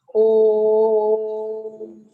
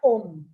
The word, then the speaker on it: Om: But actually, OM is a 3-syllable mantra. It's the chant is Om. It's not Om.